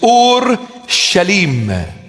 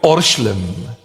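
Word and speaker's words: אורשלם: In Aramaic, the proper pronunciation of the word is Ur-Shalim. Ur-Shalim. And we abbreviate it and we call it Orshlim.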